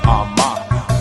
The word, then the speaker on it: Armah: My last name is pronounced Armah.